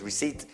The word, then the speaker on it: receipt: about sco a receipt non receed po because receipt critical P you don't PR pronounce the P pour it po p o